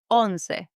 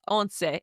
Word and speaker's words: once: That is on. Yes, on. It's written the same as the English word once.